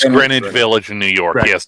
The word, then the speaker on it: Greenwich: restaurant and Greenwich Greenwich Village really yeah it's pronounced that's Greenwich right in that gremlin its Greenwich Village in New York yes so not only